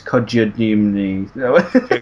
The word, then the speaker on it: Kojima: I can't pronounce his name because I keep forgetting it. It's Kojima.